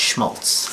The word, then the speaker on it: Shmolts: the current spelling but pronounced Schmaltz as in Bon Scott's lyric um why the difficult